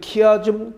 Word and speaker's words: 키아즘: X처럼 되어 있다고 그래서 우리가 헬라어에서 X는 우리가 이거 키로 우리가 발음을 읽죠. 그래서 거기다가 아즘을 붙여서 키아즘이다, 이렇게 이름을 붙였던 것입니다.